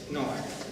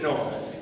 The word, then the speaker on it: Noah: Por ejemplo, aquí aparece así, bueno, Noah. Esto es Noah.